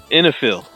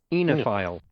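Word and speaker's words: oenophile: they're in here where are they hiding those silent letters where are they hiding all right the word is in a fill what was that in the field see what miriam webster has to say about this enophile not the worst pronunciation we've had from you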